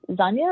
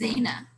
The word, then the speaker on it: Zaina: Is it Zanya or Zaina? It's Zaina.